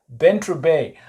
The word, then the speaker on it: Bantry Bay: Yeah, am I pronouncing that correctly? Yeah, Bantry Bay.